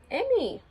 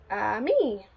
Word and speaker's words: ami: The word is ami, Mom says. You say it like this, ami.